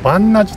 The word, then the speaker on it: 鑁阿寺: ゾンして番那寺です。